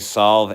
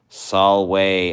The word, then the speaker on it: solve: uh the animals tj solve at coagula is pronounced solway at coagula in latin v is more like a w and the t is